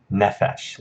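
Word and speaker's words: נֶפֶשׁ: Shagal it mounts that has the accent on the first syllable nephesh and said nephesh it's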